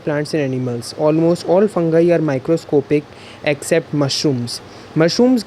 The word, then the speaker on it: fungi: Fungi. We do not pronounce it as fungi.